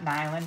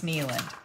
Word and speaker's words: Neland: say her name right it's not an island it's nealand we're going to be